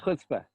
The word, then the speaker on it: chutzpah: whole point of like chutzpah. I don't know if I'm saying it correctly. You got it, but you got to get that stronger Chutzpah.